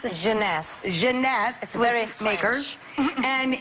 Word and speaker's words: Jeunesse: eight ageless what's the company how do you pronounce it jeunesse jeunesse and it's less than 75 retail with